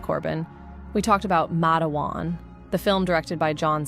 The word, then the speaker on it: Matewan: Mat Matawan, which you called Matewan, was not how you pronounce it. It was Matt and then like a dash and then uh then dash and then Juan.